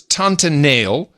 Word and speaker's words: Tante Neel: Now, this was Tante Neel, which is that's the Dutch pronunciation.